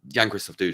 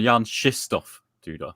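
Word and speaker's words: Jan-Krzysztof Duda: Yeah, we should start pronouncing it correctly. There was a 20-minute discussion between Leko and Gustafsson of various Polish names yesterday, and they settled on Jan Krzysztof Duda.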